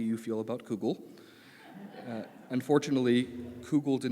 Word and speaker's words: kugel: Unfortunately, kugel did not make my list, though I'm certain